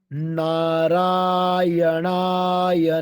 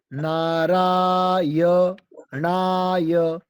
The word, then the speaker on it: नारायणाय: ओम नारायणाय नारायणा नारायणाय। य का ध्यान रखना है, कई बार हम य को साइलेंट कर देते हैं।